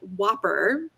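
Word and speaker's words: WOPR: it's a technique called whopper and it's four simple letters it's not spelled like like balls or the burger king hamburger right it's a w-o-p-r and um it's it's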